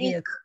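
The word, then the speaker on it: erik: Эрик. И ударение на последнюю.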